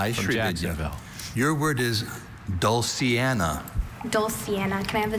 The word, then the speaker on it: dulciana: Your word is dulciana.